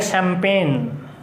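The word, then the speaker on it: champagne: हाँ, ये वर्ड इसका कोई स्ट्रक्चर नहीं है, इसको हम बोलेंगे शैम्पेन। यही है भाई शैम्पेन, हाँ शैम्पेन। स्पेलिंग देखो अब, ठीक है, कहीं एस नहीं है इसमें, इसकी स्टार्टिंग है C से, ठीक है।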